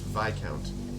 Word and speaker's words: Viscount: the name the name wrong a Viscount is pronounced VI count it's v-i-s-c-o-u-n-t but I pronounced advice discount now